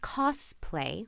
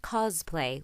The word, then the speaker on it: cosplay: roleplay but either way it should be pronounced cosplay with an S not cosplay with a z I'm not sure where